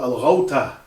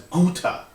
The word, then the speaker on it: Al-Ghouta: Now, when Khalid ibn al-Walid entered the area called Al-Ghouta, which is mispronounced as Guta, when he entered Al-Ghouta, he planted his standard at the place known as Al-Iqab.